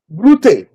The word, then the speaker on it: Brute: It's Latin. And it it is not English. You're calling it Hold on. Brute. That is that is the that's the pronunciation in Latin.